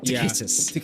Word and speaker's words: Takhisis: I always have a hard time pronouncing that. It's Takhis. Oh, that is so hard. Takhisis.